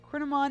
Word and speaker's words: Kouign Amann: I need to figure out how to pronounce this thing correctly. And that's, Kouign Amann is much closer than I would ever get without looking it up.